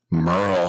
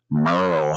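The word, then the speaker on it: Merle: Merl Hagard. Remember Merl was a silent e.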